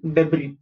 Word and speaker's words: debris: Okay, next fern, and finally debris. Okay, yahan pe jo s hai wo silent hai, you do not pronounce debris, s nahi bolna hai, s ko silent kar dena hai.